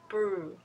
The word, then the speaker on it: brew: right so please listen to this one again Bre Bre okay and also the way to know